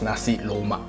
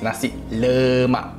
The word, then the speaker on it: nasi lemak: culture to this day people still pronounce nasi lemak as nasi loma it's nasi lemak that is it ignorance